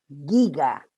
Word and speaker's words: giga: Por lo tanto, se pronuncia como giga. Como que tuviese una I entre medio.